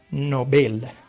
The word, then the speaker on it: Nobel: nuestro idioma nos llaman premios nobel se llaman novelda abriendo premios nobel esto sería la pronunciación correcta un abrazo de estocolmo chop bien